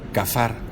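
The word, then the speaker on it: kaphar: Es bien interesante es la palabra hebrea cafar se escribe con k a p h a r cafar qué significaba cafar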